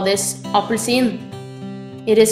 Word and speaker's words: appelsin: is an Orange in Norway we call this appelsin It is spelled a p p e l s i n try apelsin this is a pair in Norwegian a peir